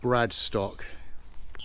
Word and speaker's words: Bradenstoke: And in 1286, the land and the village were acquired by Bradenstoke Priory in Wiltshire, although that's sometimes pronounced Bradstock.